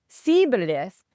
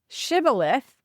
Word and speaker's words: shibboleth: So if you said sibboleth with a s instead of shibboleth, they knew that you